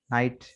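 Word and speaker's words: knight: तो rule number 1 बता रहे हैं कि के is silent in the following words, कि दर्ज झेल अल्फाज में के साइलेंट है। ठीक है, ये देखें के को रेड से हाईलाइट किया है। Knife, knee, not, no, knock, नाइट, knob, नील। ठीक है, के सब में साइलेंट है।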